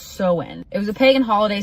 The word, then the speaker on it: Samhain: Halloween, before it was Halloween, was called Samhain, pronounced Samhain.